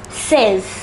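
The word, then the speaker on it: seize: the next five numbers the number 16 is pronounced as says say it once again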